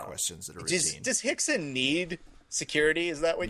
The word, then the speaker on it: Rickson: Rhymes with Dixon. Rickson Gracie?